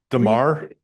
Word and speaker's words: Damar: What is your opinion of, and I might not be pronouncing this correctly, Demar. Demar.